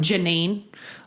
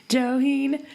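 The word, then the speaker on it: Johiehon: Just as far as names go for our Native American mother, it's spelled Johieehon. Joy? Joheen? Joheen? Joyhun? Janine. Oh my God. Or Jolene. Joheen. Joheen. That's right. Yeah, Joheen.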